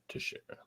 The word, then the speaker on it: Teixeira: Is that how you pronounce it? Teixeira? Yeah, Teixeira.